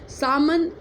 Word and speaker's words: salmon: सामन, SALMON, सामन, L silent रहता है।